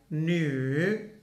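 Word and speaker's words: 女: They pronounce it like nu, nu.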